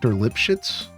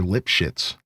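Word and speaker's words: Lipschitz: And his name was Dr. Lipshits. Like that's his name, dude. Like s c hi tz.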